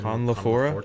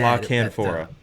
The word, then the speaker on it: La Canfora: Jason Conlafora? Conlafora, I think. Conlafora. He said La Canfora.